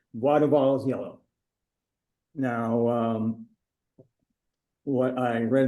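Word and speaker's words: Boisduval: And one of the reasons you're going there is to see, I'm going to pronounce it in French, Bois de Vals yellow.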